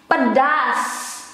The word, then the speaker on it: pedas: Because the Indonesian one is pedas. Pedas. Pedas. That's the formal one to write it and to pronounce it.